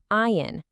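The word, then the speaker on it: עין: But, and here's the magic, there's another word, pronounced the exact same way, ayin, but this one means nothingness.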